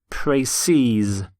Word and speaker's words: précis: The plural of précis is in fact spelt exactly the same, but it's pronounced précise.